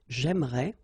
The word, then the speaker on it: j'aimerais: So it will go like j'aimerais, or then j'aimerais. Remember, phonetically, they are the same, okay?